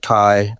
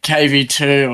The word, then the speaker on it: KVII: bio, like you have it says pronounced Kai or whatever name. Yeah, everyone asks, like when everyone sees it, everyone's always like KV2 or Kvii, or like there's so many funny names, and I think it's like funny.